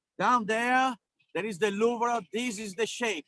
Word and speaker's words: Louvre: That's how you pronounce. You don't pronounce it like Louvre. You pronounce it like Louvre. Yes. So you have to be really fast with vr.